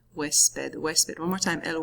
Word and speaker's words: huésped: El huésped. Repitan, el huésped. Wes, as in like Wesley, like the beginning of that, and then ped, huésped, huésped.